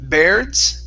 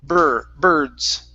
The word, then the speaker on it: birds: Instead of beards, bear, it's birds.